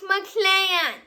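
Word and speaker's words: MacLan: classics not mclaren or mcdonald or mcdonald's it's mclean m-a-c-l-a-n what's it like to be a hang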